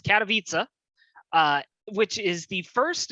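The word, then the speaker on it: Katowice: go we saw iem katavitsa i've been pronouncing this wrong all all week i've been prone twice uh it's cataviza uh which is the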